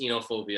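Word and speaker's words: oenophobia: of wine it was b uh you know inophobia uh it's oh you're not supposed to pronounce the oh it's o-e-n-o-phobia so it's inophobia that's how you say it yeah um myself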